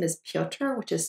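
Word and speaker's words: Piotr: heads up the main character his name is pioter which is spelled p-i-o-t-r it's a variant of the name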